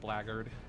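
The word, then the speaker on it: blackguard: so that was fun it's a fun word blaggered looks nothing like the way it's spelled i mean that's like all british words uh he is he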